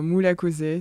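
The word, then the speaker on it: Murakoze: cas mon nom d'artiste c'est mou cosé ça veut dire merci en quin Rwanda on va dire phonétique pour qu'on le prononce bien euh et il y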